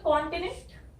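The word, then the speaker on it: continent: तो CON हमें बोलना है कॉन, यहाँ पे O की जो साउंड है वो है ओ, कॉन। टिन, TIN, टिन। और फिर कॉन्टिनेंट है ना। तो ये जो ई है इसकी साउंड है ए, इसलिए यहाँ पे आ गई 2 मात्रा। और ये जो एन है इसकी एक सॉफ्ट साउंड है, हाफ वाली साउंड, इसीलिए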